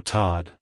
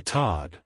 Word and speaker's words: Todd: sound at the end avoid making the oh sound too strong like hello Todd goodbye Todd if you found the